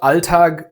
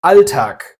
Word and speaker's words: Alltag: A voiced consonant at the end of a word will always be devoiced. So, it's not "Alltag", but "Alltag" with a k.